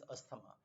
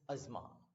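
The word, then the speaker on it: asthma: Even doctors को I have heard saying this अस्थमा. Probably जी जो popular pronunciation होती है वो चल जाती है, बट अगर आप प्रोनाउंसिएशन की बात करेंगे, this not अस्थमा, this is अजमा.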